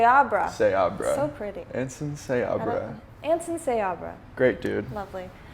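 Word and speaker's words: Seabra: off to her with anson how do you pronounce his last name siebra say abraham say abraham say abraham so pretty ensign say abra anson sayabra great dude lovely uh so you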